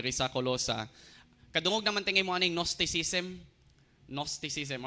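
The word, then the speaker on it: Gnosticism: colosa kadungog namantay nosticism nosticism or g start pero nos ang pagka-pronounce sa first nosticism o more si opposite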